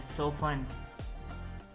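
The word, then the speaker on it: soften: सोफन, इसमें T silent है, सोफन, नरम करना।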